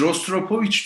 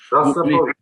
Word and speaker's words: Rostropovich: Bir, biz Rostropovich diyoruz. Sen A gibi söylüyorsun ilkin. Rastropovich gibi bir şey diyorsun. Rastropovich. Öyle mi okunuyor?